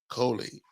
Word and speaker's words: Coley: You only say Cooley to me, which I'm cool with that. No. I finally, this is what I am, Clint. I finally looked at it. It's not Cooley. It's not 2 O's.